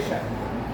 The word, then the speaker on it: श: कहाँ से होता है, तो इस श का उच्चारण होता है यहाँ से, यानी कि जहाँ से च का उच्चारण होता है छ, झ, झ, य, श, यानी कि जहाँ पर जीभ टकराती है च बोलते समय, लगभग वहीं जीभ टकरा करके श बोलता है।